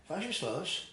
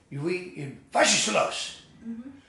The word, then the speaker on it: Was ist los: You'd say something like, "Was ist los?" which is simply, "What is this?" And then they'd say, "No, that's not how you say it. Was ist los?"